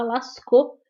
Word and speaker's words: Lascaux: Se escreve Lascaux, mas se fala Lascaux porque é francês, tá bom?